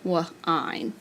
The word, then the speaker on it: wine: So in the word wine, like your little brother was whining, the root word wine, you would have the E jumping over and making I say his name, wine.